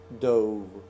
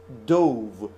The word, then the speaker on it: dove: I believe I explained it last time that this word dove, if you D-O-V-E, if you pronounce it dove, this is the past tense of dive. If you pronounce it dove, which is also a correct pronunciation, this means a kind of bird.